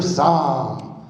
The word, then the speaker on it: Saam: I'm a stand-up comedian my name is saw a lot of people mess up my last name is pronouncing in the bible only spelled differently since